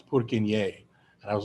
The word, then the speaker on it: Purkyně: name is not pronounced Purkinje. I had a Swedish roommate in Montreal and he's like, "It's not Purkinje. It's Purkyně."